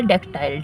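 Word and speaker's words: dactyl: डक्टाइल है ना डक्टाइल there are three syllable डक्टाइल डक्टाइल डक्टाइल the first is एसेंटेड है ना डेक डेक बोल रहे हैं टाइल बोल रहे हैं तो डेक जब होल रहे तो जोर लग रहा है एसेंटेड है स्ट्रेस है और जो फॉलो बाय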